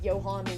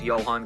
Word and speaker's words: Johan: I'm pretty sure it's Johan cuz like the soccer player Johan C the J is pronounced like a y um but and then